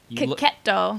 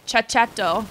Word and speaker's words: Cacchetto: Yeah, this one's been calling it Cicchetto. Cicchetto. But there's no ch sound in Italian. Who knew?